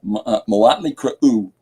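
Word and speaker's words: Mötley Crüe: That's how you pronounce that, by the way. Because Motley Crue has umlauts above the O and the U, and an umlaut denotes hard consonant, soft consonant. So, or hard vowel, soft vowel.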